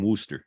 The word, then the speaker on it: Worcester: Massachusetts so yeah uh not too far from Wooster oh sorry when you move to Massachusetts do you learn to pronounce Worcester correctly very quickly or else you